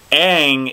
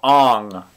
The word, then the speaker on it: Aang: There are so many things missing from the plot, but they mispronounce the main character's name. Aang is now Ong, people.